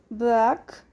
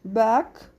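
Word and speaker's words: b'aq: Entonces la primera que vamos a aprender, su pronunciación es de delgado, delgada, y se dice con esta pronunciación Bak. La B suena poquito, solo Bak, delgado.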